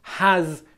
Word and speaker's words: has: Because take the Z ending at the end of has, okay? Once you learn how to pronounce has correctly, you can apply